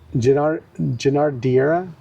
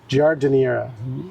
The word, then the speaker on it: giardiniera: Giardiera. Giardiniera.